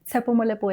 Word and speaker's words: Tsepo Molepo: Tsepo Molepo is the name. It rhymes.